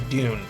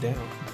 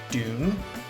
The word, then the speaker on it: Doune: that it was pronounced down. The castle is pronounced Dune.